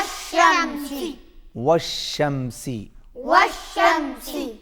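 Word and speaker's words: وَالشَّمْسِ: व शमसी व शमसी वश शमसी वश शमसी यहां पर भी देख रहे हैं व के बाद अलिफ लाम ये साइलेंट है ये पढ़ने में नहीं आएगा देखने में जरूर आएगा वश शमसी वश शमसी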